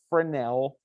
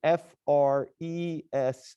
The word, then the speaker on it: Fresnel: And that angle that you look at it and how it changes is called a Fresnel reflection. That is F-R-E-S-N-E-L. It's French, the S is silent.